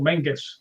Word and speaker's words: Menzies: And the last 3 letters, last four letters are ZIES. They call it Castle Mengus.